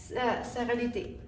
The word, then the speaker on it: Sérénité: Sérénité. It's in French, just because I'm also French.